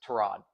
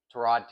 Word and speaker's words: Tyrod: Pronounced Trod Trod. He said it's Terrod Taylor.